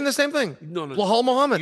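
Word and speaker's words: Belal: saying the same thing blal Muhammad you were saying blah BL isn't it BL no it's B B I feel like we're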